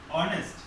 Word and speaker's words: honest: an honest man, এখানে হচ্ছে অনেস্ট, অনেস্টটা এইচ আছে, ঠিক আছে, কিন্তু ভাওয়েলের মতো উচ্চারণ হয়েছে, সেই জন্য এন ব্যবহার করেছি আমরা।